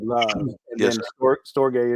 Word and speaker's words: storge: storge is a storge, depends on how you pronounce it, is the love for family.